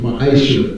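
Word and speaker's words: מעשר: You can find this in Numbers chapter 18, verse 21, and Malachi chapter 3, 8 through 10, means tenth in Hebrew, and is pronounced ma'asha.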